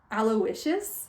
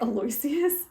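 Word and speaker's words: Aloysius: and it's Stark weather apparently his first name's pronounced aloicious which is stupid I was pronouncing it aloisius cuz like that's how it's spelled like just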